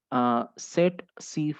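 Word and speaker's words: tsetse: That is called সেট সি ফ্লাই। অনেকে সিসি ফ্লাই বলিস, কিন্তু সিসি ফ্লাইটা অ্যাকচুয়ালি ঠিক কথা নয়, ওটা সেট সি ফ্লাই হবে, হ্যাঁ, TSE, ওকে, TSE,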